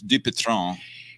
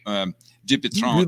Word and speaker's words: Dupuytren: And for the correct and I'm impressed so much by your correct pronunciation, which Allan just asked me about, which is Dupitron. Dupuytren disease.